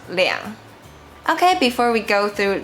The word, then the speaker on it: 兩: Remember when counting things or people, we say 两 and also 200 200 2000 2000 2万 2万 we pronounce 两.